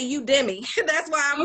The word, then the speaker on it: Udemy: I always tell my clients, I said, don't you ever go in there and buy nothing on the full price for Udemy, because they gonna have a sale next week.